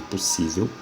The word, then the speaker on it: possível: No caso de possível, se separa com 3 sílabas, a sílaba tônica é a penúltima e ela termina em L.